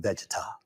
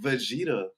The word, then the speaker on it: Vegeta: with Goku I guess I like his name better than vegar no you can pronounce his name that's what it is you can actually pronounce his name hey how how you pronounce all them hard words but you can't go and actually pronounce e you got to research see right here like you pronounce everything else apparently I'mma assume correctly but you can't get Vegeta right I'm aall I'm aall